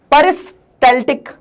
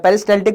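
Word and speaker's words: peristaltic: परस्टैलेटिक movement उसको बोलते हैं। पेरिस्टैटिक कुछ लोग इसको बोल देते हैं। कुछ लोग इसको पेरिस्टेटिक बोल देते हैं। लेकिन एल यहां पे साइलेंट नहीं होता है।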